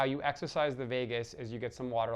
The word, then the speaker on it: vagus: It's spelled V-A-G-U-S in English, vagus.